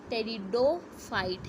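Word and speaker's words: Pteridophyte: ये जो है क्या है, टेरिडोफाइट है। P साइलेंट, टेरिडोफाइट है।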